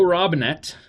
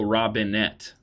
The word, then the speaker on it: Robinet: Little side note, it's totally pronounced Robinet because he's French. But he says, no, it's Joe Robinette. Hey, my family bastardized it many moons ago, so I just have to go with the flow, you know?